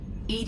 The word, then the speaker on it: EDI: the medical Bay why are you named Ed Ed is the phonetic pronunciation of Eed that is an acronym for